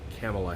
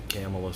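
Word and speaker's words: Kamala: camps others from Senator Camilla Harris California and before you correct my pronunciation of her name call her office she pronounces a camelus so I'll go with that one specific one from her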